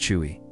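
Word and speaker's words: cheugy: If you thought back when 2022 was the year of cringe, think again, because 2024 gave us chuggy, which is pronounced chewy.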